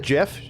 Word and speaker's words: Geoff: Do you really pronounce that Jeff? Geoff. It's pronounced Jeff. That is so clearly Geoff. I'm not even joking.